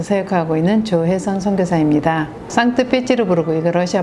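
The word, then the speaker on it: Санкт-Петербург: 로 부르게 해서 생각하고 있는 조회 선상 대사입니다 산뜻 패치로 부르고 있는 러시아 발음 인데요 여기에서는 상트페테르부르크 고 이렇게 표기를 하더라구요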